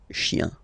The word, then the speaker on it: chiens: Remember, chien, singular form, chien, same pronunciation, but you put this S, okay? Final S, not pronounced.